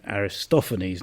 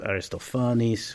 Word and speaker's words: Aristophanes: saying listata I mean English tends to have that what's called recessive accent so we go you know Aristophanes not Aristophanes which is where the accent is we say Lister not listrat that tends to be the English tradition tomato tomato so obviously